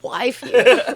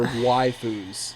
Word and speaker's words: waifu: It's kind of Waifu like what? saying it's basically Annihilator. I don't know realize basically that that's how you Oh. pronounce it. it's the Japanese version of wifey, basically. Waifu Yeah.